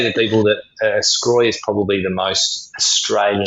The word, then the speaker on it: Sgroi: Scroy.